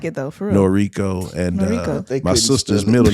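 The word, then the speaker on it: Noahreko: that's the first in middle or that's like no Rico is Noah Rico is one word yeah yeah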